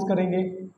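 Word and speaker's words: cu: एन ए के बाद हम देखते हैं ओ। ओ। ओ को हम प्रोनाउंस करेंगे ऊ।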